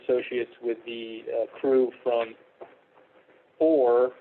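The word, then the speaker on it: OUR: with the crew from OR, which is spelled O-U-R, but is pronounced OR.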